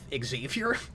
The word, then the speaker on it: Xavier: In certain cases, I think that name actually is pronounced that way, but particularly with Xavier, it's called the X-Men. You gotta hit the X.